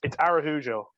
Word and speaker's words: Araujo: I also asked him, did my pronunciation sound right? And he was like, it's good enough for an English speaker. It's Araujo. So, Araujo. Okay, cool.